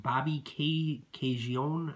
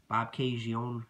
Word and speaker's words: Bobcaygeon: Now, after Stanley retired as a player, he ran a resort in a hockey school in, I think it's pronounced Bobcaygeon, Ontario. Bobcaygeon, Ontario.